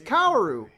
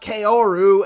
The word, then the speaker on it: Kaoru: Hey look, it's Kaoru! Not Kaoru, as the other idiot pronounced it.